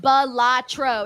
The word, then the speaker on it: Balatro: All right, we got John Taylor here who says, "My addiction is a game called Batro, pronounced Balatro.